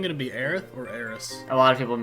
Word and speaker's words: Aerith: to be Aerith or Eris? A lot of people have been talking about that. That remains to be seen. Aerith is how it's said in Japanese, and that's how she's been voiced in everything since then.